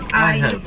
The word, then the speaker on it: iHerb: How do you pronounce it? iHerb.